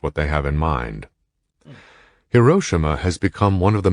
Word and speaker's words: Hiroshima: He recalled how, it's called Hiroshima. I said it wrong. My bad. It's Hiroshima.